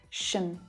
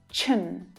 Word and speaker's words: -tion: When the consonant sound s is the sound right before the TION, the pronunciation becomes chun instead of shun, ch instead of sh.